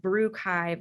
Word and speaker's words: Brewchive: the archive should collect it was the advisory group that came up with the name at first we called it the bar archive because of course that rhymes with archive but those people on the advisory committee they said that that won't do brew chive is better so we trademarked